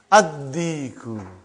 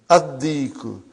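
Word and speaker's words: الديك: Ad-diku. Why? You did not pronounce lam because it is sun letter. Ad-diku.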